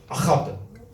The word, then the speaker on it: Ahad: If you want to say it correctly, you need to pronounce it Ahad.